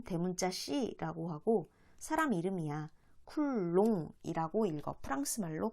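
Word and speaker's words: Coulomb: 쿨롱이라고 읽어. 프랑스 말로 쿨롱이라고 읽어. 프랑스 사람이야.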